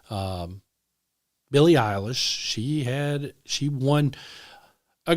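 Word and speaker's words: Billie Eilish: But apparently there was a uh artist there named Billy uh Isish, I believe, is how you pronounce her name. Um Billy Isish.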